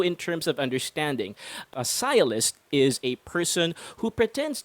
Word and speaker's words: sciolist: You're gonna love this term, as this one is pronounced as sciolist.